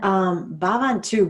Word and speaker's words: bhavantu: And then bhavantu breaks down into two syllables. So bhav, B-H-A-V. And bhav means feelings, but more in the sense of how your feelings are connected to the divine or to your higher self. And then that last syllable, antu, it means as it is.